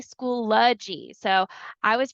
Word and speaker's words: Schoology: of it but um I come to find out with my first session it is act actually School ly so I was pronouncing